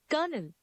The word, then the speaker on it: colonel: The next word is you may be pronouncing it coeluational or colonel. What it actually is kernel.